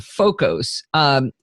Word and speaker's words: Focos: The application I'm going to show you is called Focos. It's spelled Focos, like focus, only with 2 O's.